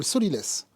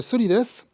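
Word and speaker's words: sot-l'y-laisse: C'est le solilès. Le solilès, ça s'écrit S-O-T, L'-Y, L-A-I-2-S-E, parce que seul le sol le laisse.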